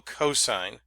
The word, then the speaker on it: cos: We abbreviate these SIN, that's pronounced sine, not sin, COS, which is still cosine, and TAN, which is pronounced tangent.